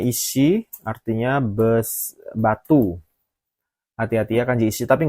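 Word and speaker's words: 石: Ini bacanya ishi, artinya batu.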